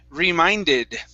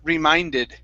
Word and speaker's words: reminded: uh next up is reminded okay yeah long eye sound remy reminded reminded okay good uh next up